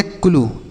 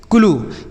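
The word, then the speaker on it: clue: सी एल यू ई इसे हम पढ़ेंगे क्लू। क्या पढ़ेंगे? क्लू।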